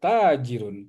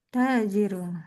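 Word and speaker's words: تاجر: bisnisman atau merchant sodagar ya sodagar eh sodagar jadi man hadza had h hadza tajirun tnya panjang ya tajirun tajirun oke lanjut ke abi bi apa itu bi hadza kalbun hadza kalbun apab hadza kalbun ini.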